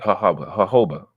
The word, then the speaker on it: jojoba: Jojoba, but it's like a J though, right? Jojoba oil. Yeah, that shit fire. Yeah, it's spelled like this, but it's pronounced like this.